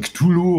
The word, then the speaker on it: Cthulhu: Ja, es kommt ganz drauf an, wie du es aussprechen willst. Die einen sagen Cthulhu oder die anderen sagen Cthulhu. Stulju oder so, weil das ist doch eine alte keltische Gottheit oder irgendwie sowas, ne?